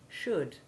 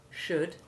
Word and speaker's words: should: looked at double o the double o2 sound of words like good and wood can also be made by a very few oh you words like could should and would this is our o